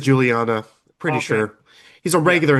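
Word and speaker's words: Guiliana: saxoponist Donnie Mccasin and drummer Mark Giuliana or Juliana. I can't remember how it's pronounced. It's spelled with a G. I I think it's Juliana.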